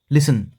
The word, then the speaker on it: listen: तो यहाँ पे टी साइलेंट है। लिसन, सुनना, देखने के लिए